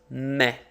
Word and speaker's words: me: I punch me and in Spanish it's spelled exactly the same way but it's not me it's me okay you singular in